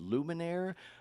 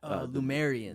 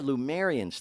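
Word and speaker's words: Lemurians: Is it pronounced Luminaire? Lumerians. Yeah, Lumerians.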